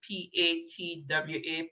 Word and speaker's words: patwa: use very much murder jamaican patois is erotic p-a-t-w-a patwa the way as as is as it's pronounced and then that's that's the aim that